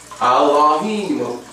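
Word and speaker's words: אלהים: So understanding that much, the pronunciation of the word that we're looking at is al, and this is a secondary pronunciation or feminine, Allahim, Allahim, Allahim.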